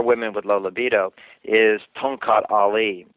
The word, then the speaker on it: Tongkat Ali: to men or women with low libido, is tonkat ali. Tongkat Ali from Indonesia. Can you John, do you care to spell that maybe for the listeners?